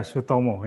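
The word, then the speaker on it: Soetomo: Raleigh, you pronounce this as Soitomo, isn't it? Yeah, Sutomo, yeah.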